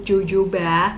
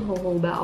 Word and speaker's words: jojoba: Dan loose powder ini dia mengandung jojoba oil atau kalian yang sering sebut jojoba, tapi cara bacanya itu jojoba oil.